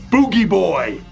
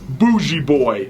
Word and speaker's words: Bougie Boy: And who should make an appearance but Boogie Boy, or Bougie Boy, if you want to pronounce it the way it's spelled.